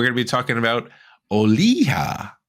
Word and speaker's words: Olija: to be talking about oliha not olija as I probably pronounced that in the last episode but is oliha by